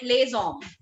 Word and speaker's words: les hommes: Now, even alphabet H is treated as a vowel in French. So we call it les hommes.